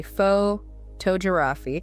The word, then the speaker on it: photography: When we change it to photography, the strong beat moves. It moves. It moves to the second part of the word. We say photography, Photograph. not photography. It is photography.